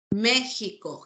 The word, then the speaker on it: México: gente jitana jarra jefe México Jimena Javier se escribe con x pero suena J la k lo mismo